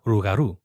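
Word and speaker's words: rougarou: type of when okay so it's called the r l o u p Loop garu but when you say it in French it's the rugaru so over time down here you have the L turn into the R so it'sugar rugaru rugaru rugaru so when I first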